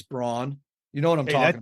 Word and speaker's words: Braun: fire you remember he was a rookie it's pronounced brown brown but like it's Braun you know what I'm talking that's a great